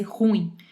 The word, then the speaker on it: ruim: Para deixar bem marcado que ruim é um hiato, tá? Não é um ditongo para fazer ruim, é ruim.